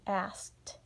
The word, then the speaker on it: asked: and then you have asked and notice that Edie makes the sound as a tea but we spell it with an e D because it's past tense then we also have